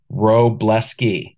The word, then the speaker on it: Wroblewski: the pictures if you follow the pictures it's pronounced roblesky can everybody say that give it a drink